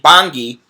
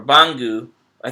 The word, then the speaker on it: Bangui: Baghdad is number 230, and Bangui, or Bangu, I think it's Bangui is how you pronounce it, in Central African